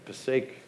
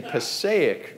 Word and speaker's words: Passaic: Passaic River now if you're from there it's pronounced the Passaic River you got to put the shoulder into it it's northern New Jersey it's the Passaic River by proper pronunciation but growing up there